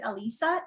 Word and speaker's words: Alyssa: want to say so my name i pronounce it elisa even though yeah with the y for ryan when he's reading that that's how i pronounce it i know there's um various uh ways of saying it so i just want